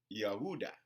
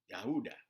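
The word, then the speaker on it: Ouidah: slave atlantic which is yahudah okay but i don't know if i'm pronouncing that right but yeah i think it's uh let me spell it it's o u i d a h yahooda so this is where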